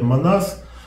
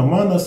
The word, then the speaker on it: Манназ: Вот часто говорят «Манас», но я предпочитаю все-таки придерживаться тех правил ударения, которые вот в скандинавских языках присутствуют. Там, как правило, в большинстве слов ударение ставится на первый слог, поэтому я так произношу.